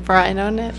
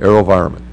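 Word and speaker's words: AeroVironment: airospace integration AO ver I'm not doing well pronouncing anything Vero how do I say it Aero environment thank you mhm slides please I uh just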